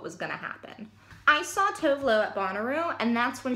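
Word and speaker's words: Tove Lo: I actually believe how she pronounces her name is Tovolo, and I know that because of her most recent video that she put out.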